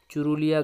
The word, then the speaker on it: চুরুলিয়া: চুরুলিয়া গ্রামে, পুরুলিয়া নয়, চুরুলিয়া, ঠিক আছে।